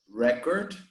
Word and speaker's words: record: What you need to remember is that the noun is always stressed in the first syllable. So we say record.